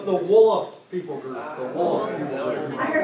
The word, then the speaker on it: Wolof: So the word is W-O-L-O-F, Wolof, but they don't quite pronounce it like that. To me, it sounds like a fun snowman that we've all heard about. And so when they say it, it sounds like this, Olaf.